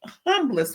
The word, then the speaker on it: humble: that in the most humblest way. Humble or humble? I heard somebody say humble ain't a word; it's actually humble. Whatever, HUMBLE. If the H is silent, then silent it is.